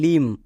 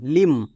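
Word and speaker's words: limb: বি আছে তার মানে এম এর পরে বি আছে তাহলে এখানে বি সাইলেন্ট মানে বি এর উচ্চারণ করবো না এল আই এম লিম এখানে কিন্তু বি এর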